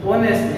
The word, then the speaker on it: honest: यानी कि हमने क्या लिया, हमें किस तरह से बोलते हैं, बोलने में हम बोलेंगे ऑनेस्ट, यानी कि ओ ए ई आई ओ, यानी कि ओ में से आया, यानी कि एच क्या है, साइलेंट, राइट।